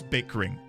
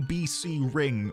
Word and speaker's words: Bickring: It's It is bickering. There's no way it's not bickering. I get it's probably BC Ring initials, but it's bickering, man.